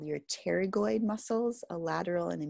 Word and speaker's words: pterygoid: the masseter called your pterygoid muscles a lateral and a medial pterygoid the p is silent so these are all